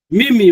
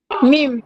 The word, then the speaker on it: meme: Mimi, right? Meme.